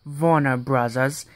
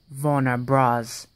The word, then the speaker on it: Warner Bros.: It's not Warner Brothers, it's Warner Bros.